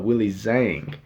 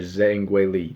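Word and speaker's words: Zhang Weili: a rematch against uh willie zhang or whaley zang i actually can pronounce her name yeah whaley zanger zengwei lee that is how you pronounce your name we we botched that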